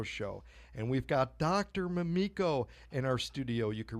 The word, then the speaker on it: Mamiko: myself such as even changing the pronunciation of my name so that it was a little softer from to Mamiko great I'm glad thank